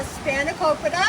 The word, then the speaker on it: spanakopita: This is a spanakopita. Spanakopita, that's how you pronounce that.